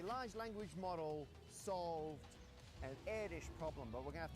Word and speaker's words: Erdős: First of all, and this will be fundamental to everything else we're about to talk about, what is an air dish problem? Paul Erdős, yes, it's pronounced like that, was a prolific mathematician from